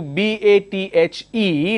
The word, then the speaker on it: bathe: In case if you change the spelling to B-A-T-H-E, it becomes a word and it becomes bathe. It's a the sound. So the is a next sound.